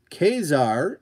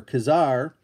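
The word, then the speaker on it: Ka-Zar: uh is it Gollum and then uh kesar if you pronounce it that way uh like I do or Kazar uh and Kazar was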